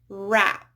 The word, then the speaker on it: wrap: So W is not pronounced at the beginning of words followed by R. Wrap, right, wrong.